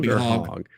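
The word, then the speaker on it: Hogg: you say his name is it hog got to be hog yeah there's no reason for it to be like you know long o or anything no you know his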